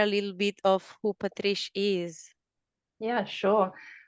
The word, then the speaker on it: Patrice: special guest Patrice Kelly have I pronounced your name right I know that Italian it could be tricky to pronounce it how are you Patricia yeah that's perfect that probably sounds nicer